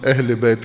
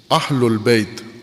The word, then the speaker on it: اہل البیت: اہل بیت کہتے ہیں۔ اہل البیت، اہل البیت ہوتا ہے، اہل بیت نہیں ہوتا۔ اہل پنجابی ہے، اہل عربی ہے، عموماً ہم عربی پنجابی میں تلفظ کرتے ہیں اہل بیت۔ اہل البیت زبر ہے اس کے اوپر۔ بیت، قرآن کریم نے